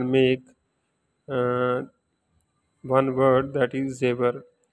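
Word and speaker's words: زیور: And we pronunciate in Rome like zebra, Z-E-W-A-R, zebra.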